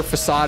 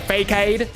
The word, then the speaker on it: facade: You know, phonetically, like it's not spoken the way that you would speak it in English. You look at it and phonetically it's like, yeah, fakeade.